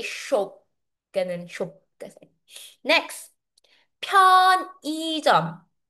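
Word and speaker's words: 편의점: 편이점. 편이점. For betterouncing this word, we say. This is how we pronounce. Mhm. Actually ang in this sent in this word we pronounce e instead of saying iy kasi uy it's hard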